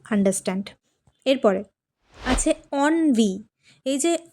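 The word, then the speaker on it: ennui: এরপরে অনভি এইযে উচ্চারণটা এটা হবে অনভি।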